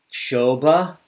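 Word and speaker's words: क्षोभ: Kshoba. Kshoba. Ksh. Curl your tongue back. Ksh. Like. Ksh. Yeah. Like an X.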